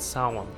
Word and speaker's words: Samhain: Sammy, which is short for Samhain, which is pronounced Samhain, which is basically an inspiration for Halloween.